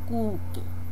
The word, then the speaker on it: cookie: Cookie Okay Coqui así la escritura pero la pronunciación es Cuqui Okay siguiente vendría a ser barra de caramelo